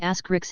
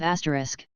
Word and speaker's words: asterisk: into fits of Rage my co-worker keeps saying ask Ricks instead of asterisk it drives me insane